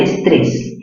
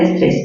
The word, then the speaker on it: estrés: Estrés, ¿dónde tiene mayor fuerza de voz? En la sílaba 3, ¿verdad? 3. ¿Qué tipo de palabra es? Estamos viendo solo regla general de tildación. Estrés, aguda terminada en S.